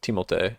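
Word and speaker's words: Timothée: the biggest goon yet timot as His official pronunciation is timot official timot Shalom um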